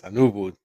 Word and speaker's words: Anuvu: global head of technology for technology services for anuu now Rodrigo welcome did I um did I actually pronounce that right yes anuu thank you Carl thanks for the invite no